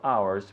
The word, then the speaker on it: ours: Ours, which is pronounced the same as 1 hour, 2 hours.